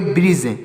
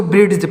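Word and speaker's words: bridge: ई तो इसको पढ़ेंगे ब्रिज ना कि इसको ब्रिज्ज पढ़ेंगे यहां पर डी साइलेंट है तो इसको पढ़ेंगे ब्रिज इसको यहां पर डी साइलेंट है यहां पर भी डी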